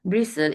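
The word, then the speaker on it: bristle: ब्रिसल इसमें T silent होगा।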